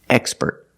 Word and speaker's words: expert: With the word expert, we put the stress on the first syllable, expert.